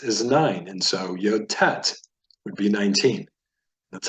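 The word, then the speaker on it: טית: the Hebrew Ted is pronounced like the t as in tent tet represents the number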